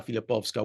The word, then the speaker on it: Filipowska: anglicized so long that we pronounced the W as a w and not how it should be pronounced uh as more of a v sound in the Polish so filipova uh the